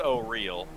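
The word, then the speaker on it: Auril: I mean, it's pronounced O'Reel. Whatever. It's actually a pronunciation. Like Oriel, there's like actually a fucking pronunciation guide. It's spelled like an angel. O'Reel.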